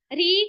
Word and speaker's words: ऋ: यह री ठीक है री का जो उच्चारण है वर्तमान समय में कैसे होने लगा है ऐसे र को छोटी ई की मात्रा ठीक है तो लिख लो री का वर्तमान उच्चारण र प्लस ई मतलब री होने लगा है तथा इसका उच्चारण